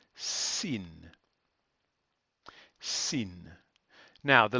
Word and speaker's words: Sin: is very similar but this one's actually called Sin Sin now the letter is the basic shape